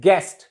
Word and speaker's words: guest: And guest, GUEST, U is silent, and we pronounced it as guest.